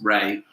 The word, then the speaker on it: Rea: 6 was which major UK city was founded in the 7th century on the River Ray, spelled R-E-A, pronounced Ray.